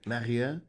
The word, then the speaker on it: Marieux: Marieux. Marieux. But your surname I pronounced right.